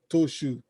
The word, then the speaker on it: Trochoux: How do you spell Victoria Trochoux? Trochoux, Trochoux, Trochoux. Ah, that's some French. That's some French. Some exclusive and exquisite pronunciation for you there.